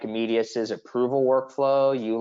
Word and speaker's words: Medius: We use Meridius, how do you say that? Medius? Medius, thank you.